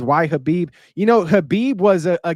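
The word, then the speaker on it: Khabib: Uh Tins Rico says, "Why Hhabib?"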